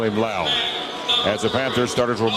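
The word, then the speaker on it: Lowe: and they pronounce it it's spelled l-o-w-e they're pronouncing his name landon lao so we'll call him lao as the panthers starters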